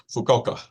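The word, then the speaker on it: Fukuoka: I meant to ask you Joseph how to pronounce this fuk fuka fukoka fukoka Japan for an economic development firm conducting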